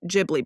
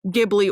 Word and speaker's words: Ghibli: It's so distinctly Ghibli. By the way, I looked into the pronunciation of it. Turns out nobody's actually wrong, Ghibli or Ghibli.